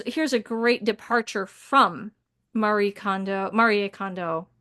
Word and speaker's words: Marie: She's Japanese, so it's Marier. People don't say they call her Marie, but it's Mari. Okay. because it's got the e and that's how they say it and and they kind of say like mar it almost sounds like mar when they when they say it but it's marier but anyway but with Maria